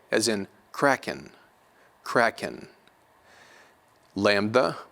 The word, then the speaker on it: lambda: Lambda will be pronounced like L in English, like light, light.